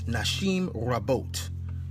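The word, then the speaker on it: נשים רבות: Now, polygyny is palus une in Greek, but in Hebrew, it's nashim rabot. That's how you say it in Hebrew, nashim rabot.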